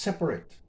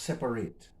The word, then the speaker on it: separate: Now the last one can be pronounced two ways. It can be pronounced separate, or it can be pronounced separate.